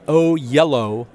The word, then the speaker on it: Oyelowo: So the way you do it is David Oyelowo.